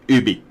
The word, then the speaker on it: Ubisoft: They're French, it's pronounced Ubi.